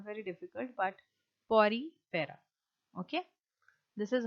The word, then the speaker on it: Porifera: It is not very difficult, but Porifera. Okay, this is how you pronounce this phylum.